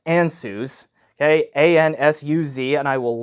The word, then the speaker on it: Ansuz: I believe this is pronounced Ansuz.